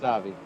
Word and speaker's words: Stavi: They call me Steve, but yeah, it's pronounced Stavi. Right.